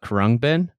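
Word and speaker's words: Khruangbin: their collaborations with Leon Bridges it's called Uh Kung bin it's khhr let me just spell it for everybody believe they're a Houston Texas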